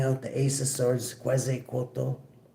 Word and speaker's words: Quetzalcoatl: The Ace of Swords, Quetzalcoatl. Yes, I believe that's how it's pronounced.